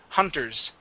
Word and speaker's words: hunters: Uh, make sure to pronounce the S at the end. Hunters.